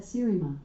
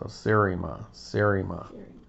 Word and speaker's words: Seriema: I pronounce that Serima, but I'm always working on how I say things and I might not have it right. So Serima.